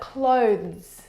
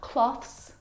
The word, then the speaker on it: clothes: clothes are your clothes but clothes clothes not cloths not close and not close those either the difficult thing about the pronunciation of this word is the two consonant sounds and together both of those sounds are voiced consonant sounds so the sound is